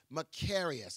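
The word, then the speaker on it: μακάριος: the Greek word often translated blessed is macarius macarius it's spelled m a k a r i oos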